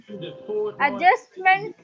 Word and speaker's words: adjustment: How do you pronounce it? See, adjustment or adjustment? We pronounce it wrong, ma'am. We say adjustment. Adjustment. Adjust. So, which is stressed?